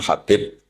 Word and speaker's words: Habib: Ada yang nulis Abi Abdurrahman Habib Asulami. Itu di harakatnya kitab itu ada yang nulis Hubab. L yang benar. Oh nggih. Yang benar itu bacanya habib.